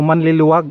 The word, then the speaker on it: Manleluag: So manliliwag ang tamang kwan niya, bigkas ang tamang term niya, manliliwag.